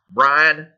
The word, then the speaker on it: Brian: here and especially because when we pronounce the name Brian in a Texas accent it's Brian it's it's practically one syllable as it is it's